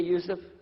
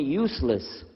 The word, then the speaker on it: Yusuf: My name is Yusuf. Can you say Yusuf? Let me say Yusuf. Yeah, very good. I wish you'd teach my wife. She keeps mispronouncing it. She calls me useless.